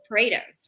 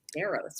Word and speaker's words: Paredes: It's Paredes, right? I think I wanted to call her Paderos or one of the other. I always call her Portos, Paredes. so Okay, so she maybe